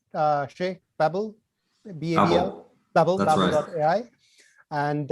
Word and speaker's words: Shea: from maple babel dot ai did i pronounce it right uh shay pebble bevel dot ai and uh we're gonna